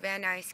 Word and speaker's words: Van Nuys: me send your information to 7507 Amoy Avenue vanise California that's spelled v an nuu S California 91406 editors